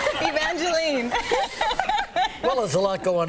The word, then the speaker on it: Evangeline: think it's you know i think evangeline is more a canadian expression or or pronunciation of the name because here everyone wants to call me evangeline is that right and